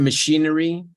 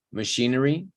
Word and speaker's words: machinery: and we keep guessing, machinery, where the stress is in she, therefore the rest is pretty much schwa, machinery, not machinery, and definitely not maki or machi, machinery.